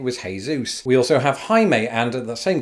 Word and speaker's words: Jaime: We also have Jaime, and at the same call centre, when I read that name for the first time, mispronounced it as Jamie.